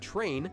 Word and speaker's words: train: train is actually Train. pronounced with a Train. CH sound, although it's spelled with TR.